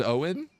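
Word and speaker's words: Eoghan: but it feels real like yogan is pronounced Owen no it's not that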